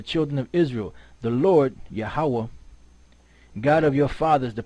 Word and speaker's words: Yahweh: Right, so he said Yehovah, right, which is close, but it's not the Most High's name, right?